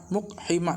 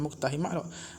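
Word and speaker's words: مقحمات: Kalau dia kata fal muqtahimat, dia kata bidammil mimi, nah muqtahimat wa sukunil qaf wa kasril ha'il muhmalah, tu cara baca. Muqhimat, bukan muqtahimat.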